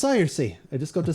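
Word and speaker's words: Saoirse: Say, oh, s maybe si sari. Yep. Good luck on you. Ah, it's Cersei.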